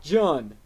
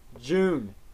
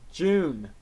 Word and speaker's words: Jun: i've got june not john june it is pronounced june you know as in the month well i personally can't